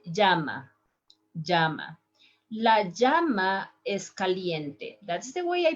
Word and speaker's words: llama: animal is also called jama in english you call it llama but in spanish if you said lama nobody is going to understand because we pronounce the double l right a little bit stronger so listen my pronunciation